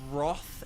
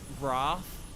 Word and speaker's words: wrath: school and stuff there there are people who say Roth instead of Wrath but it's like well it's spelled with an it's wrath okay path wrath you know